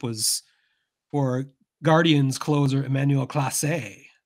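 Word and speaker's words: Clase: for Guardians closer Emanuel class or I've heard pronounced classy sure it's Class A but he is not classy but uh I would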